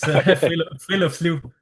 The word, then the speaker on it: friluftsliv: And the next word that he's helped me pronouncing, so Friluftsliv, something like that. You say it. Yeah, you're getting better at it. It's Friluftsliv.